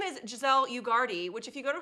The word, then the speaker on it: Ugarte: Her name is Giselle Ugarte, which if you go to her website, you'll learn the pronunciation because it's like, Giselle, let's party. yeah. Giselle, welcome to the show. Rhymes with party, and we're going to have one today.